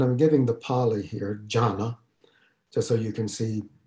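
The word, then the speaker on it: jhāna: means meditation and i'm giving the poly here jhana just so you can see you know some pali every now and then and you can see how jhana might be pronounced jhana and uh when it comes into chinese it's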